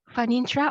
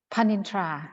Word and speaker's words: Panintra: Is it Okay. Fanintra or Panintra? Panintra. Yeah. Panintra. Per Yeah. sound in the initial consonant. Yes. Okay. Like Yeah, Pattaya, thank you. right? Yes, yes, like Pattaya.